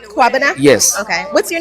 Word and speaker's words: Kwabena: So Kwabena? I'm Kwabana. Kwabena?